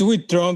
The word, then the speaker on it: Witrön: And today, my guest is Surge Witrön. I'm sure people fuck that up all the time. Is They it Surge do. Witrön? It's Witron, but it's like if you were pronouncing it in with the umlaut, it would